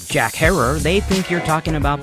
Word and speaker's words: Herer: So I knew how he pronounced his own last name. Jack Herer is here with the book. But I've noticed that most people mispronounce it as Jack Herer.